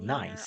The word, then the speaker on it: Meir: You can see this view Oh, on so your pronounced screen as there. Jessica From here, she Meir, works to not retrieve Meyer.